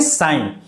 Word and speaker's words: psi: थोड़ा सा इंग्लिश पर ध्यान देंगे, इसमें P जो होता है ये साइलेंट होता है और SI का ही उच्चारण होता है, ऐसे इसको उच्चारण देते हैं साइन, जो त्रिशूल के डिजाइन जैसा आपको दिख रहा होगा।